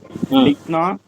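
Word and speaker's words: लिखना: இது இங்கிலீஷ்ல லிக் அப்படின்னு ஒரு வார்த்தை இருக்கு. அதாவது லிக்கு என்ன மீனிங்? நக்குவது. இந்த வார்த்தைக்கு இங்கிலீஷ்ல எல்ஐசிக்குன்னு நினைக்கிறேன். அதுக்கு என்ன உச்சரிப்பு கொடுப்போமோ அந்த உச்சரிப்பை மட்டும் இங்க கொடுத்தா போதும்.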